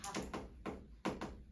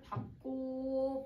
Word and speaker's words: 밟다: 자 첫 번째 어떻게 발음하냐. 아까 선생님 금방 땅을 밥 이건 무조건 비읍. 그래서 얘는 밥. 얘는 이 단어는 그냥 밥이야. 밥. 그다음 땅을 밟고 밟지 그 다음에 밟다 다 밥으로 발음을 하는 거예요.